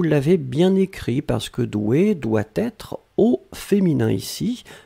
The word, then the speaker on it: doué: juste le 1 mais la prononciation reste la même doué regard d'un pardon ne